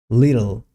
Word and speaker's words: little: Little. It's not little or little. The correct pronunciation is little.